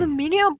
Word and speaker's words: aluminium: Aluminium powder? Oh yeah. Huh? Also valid. Powder? For taking fingerprints. Yeah. One of the many words that Americans pronounce differently.